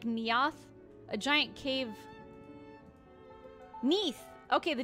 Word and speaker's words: Neath: Is it Naoth or Neath? I'm assuming it's pronounced like Naoth. A giant cave. Neath. Okay, the Neath. A tailor. My family kept a tailoring shop with aspirations. Short for underneath.